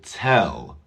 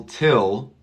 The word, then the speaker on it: tell: you for the question listen to the difference between the I and the E it's very very small he will tell Will Tell it's not will till no will tell I guess they have